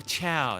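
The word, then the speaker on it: Ciao: Oh, Chow. That's how it's pronounced.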